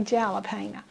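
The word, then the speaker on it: jalapeño: onions over mine and a little bit more jalapeno peppers and i always say that but kevin now how do you say that word again jalapeno every time i say jalapeno but it's jalapeno y'all excuse me but anyway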